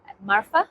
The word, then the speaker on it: Marfa: I'm a senior partner with Marfa Advisors here in Dubai in the UAE. Now, how do you spell that? Marfa?